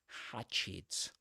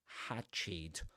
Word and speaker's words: hatchet: So while wielding the hatchet, you can, and that's the pronunciation of that word, hatchet, hatchet. The first syllable rhymes with, for example, trap or cat.